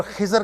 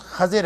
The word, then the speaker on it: خضر: موسیٰ و خضر ہے، یہ جس کو عام طور پر خضر کہا جاتا ہے، اس کا درست تلفظ خضر ہے لیکن معروف خضر ہے۔ موسیٰ اور خضر علیہ